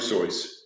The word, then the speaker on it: Seuss: to tell people it it's not s so it rhymes with and so we've been saying it wrong all this time it was Dr soy no so and uh we